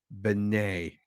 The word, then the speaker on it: Benet: remembers as the children's Uncle Benet pronounced Benet that's the plot whom they